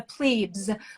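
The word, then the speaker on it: Los Plebes: lost i think i i believe the way to pronounce it is los pledas las vegas we'd say we in a in in the us we'd say the plebes but in spanish i think it's los plebus i i that was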